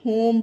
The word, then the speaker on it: home: ई इसमें साइलेंट है, तो आप लोग ये रूल ध्यान रखिएगा। तो आप जितने भी वर्ड होंगे इजली पढ़ लेंगे कि जब ओ हो किसी वर्ड में और उसके लास्ट में ई आए तो ई का उच्चारण नहीं होगा, ई साइलेंट रहेगा, तो आप इसे होम पढ़िए।